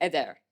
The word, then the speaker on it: eder: So reading this phonetically in Arabic, we would read as bozar. And reading this phonetically in Arabic, we'd read eider. But this is bozar and eder in Turkish.